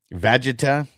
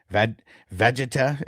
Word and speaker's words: Vegeta: know if you know how to pronounce the name. Okay, so it's Vegeta. Is that what it is? Vegeta.